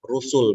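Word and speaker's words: رُسُل: Rusul bacanya juga, bukan rasul, rusul, ya.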